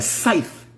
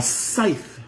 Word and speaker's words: scythe: A scythe. A scythe. How do you S-C-Y-T-H-E? Scythe. A scythe. So it's a different thing, but it's pronounced maybe the same way.